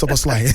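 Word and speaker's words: Szoboszlai: It's Soboslai.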